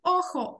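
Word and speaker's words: ojo: Охо, сі, охо, око. І охос будуть очі, охо. Тут трошки забудьте, що це літерка G в англійській мові. Тут у нас це літерка хота. І читається як х, охо.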